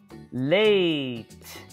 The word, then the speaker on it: late: let's start oh eight notice how i'm putting it all together because by now you should already know that silent e gives us that long vowel sound let's do it again oh eight late game one more